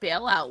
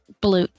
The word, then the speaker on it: balut: I did bailout once. Not a fan. Bailout? Balut. Oh, balut. That's not how it's spelled.